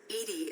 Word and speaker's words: EDI: are you named Edie Edie is the phonetic pronunciation of EDI that is an acronym for enhanced defense intelligence where are you my